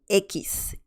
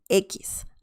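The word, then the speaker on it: equis: another tricky one and this is the letter ekis ekis i actually have a video about this letter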